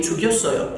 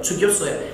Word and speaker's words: 죽였어요: Now, if you pronounce it smoothly, 죽였어요, 죽였어요, it's a little Y sound, 죽였어요.